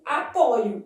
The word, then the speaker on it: apoio: Então, eu posso ter a oscilação das pronúncias das letras O e no verbo apoiar, a forma de primeira pessoa do presente do indicativo apresenta a letra O aberta. Eu apoio.